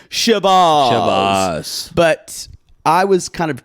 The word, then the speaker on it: Chivas: I've always heard it as Chivas. Chivas. Maybe that's for me working in bartending. Maybe it's because I'm in the South or Michigan. Heather says Chivas. Like it rhymes with Shiraz.